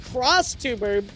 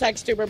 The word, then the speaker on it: XTuber: Uh it is pronounced crosstuber. No, it's xtuber, bro.